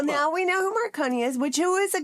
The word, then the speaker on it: Marconi: Marone. Maronei invented the radio. Jeppe, I think I was I think I was mis mispronouncing his name earlier. Yeah, Maronei. He uh he he Okay, hold on.